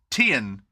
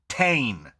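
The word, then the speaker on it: Tein: 2000 uh it is t e i n which we have pronounced as Tian ever since then in Japanese that is pronounced Tain absolutely not uh I don't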